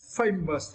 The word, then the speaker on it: famous: And for the next word, famous, right? Famous. And for this word, we need to straight the first syllable.